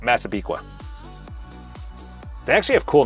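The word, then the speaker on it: Massapequa: It's funny when they go to people that are new to New York and they're like, "How do you say this?" And they're like, "Maziquaya." They're like, "Nope. Masabiqua."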